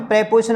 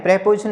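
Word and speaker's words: preposition: देखो पहले बनाएंगे बंदर है कि, मैंने आपको बताया था ना, जहां भी प्रेपोजिशन आ जाती है, जैसे पर क्या है, प्रेपोजिशन है, प्रीपोजिशन नहीं बोलेंगे।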